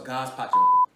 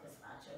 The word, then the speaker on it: gazpacho: That was God's pacho. Is that how you say it? It's not how I would say it. I thought it was called gazpacho, like the gazpacho bean.